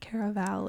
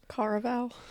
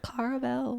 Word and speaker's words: Caraval: It's not Caraval, it's something else. Caraval. It's like caramel.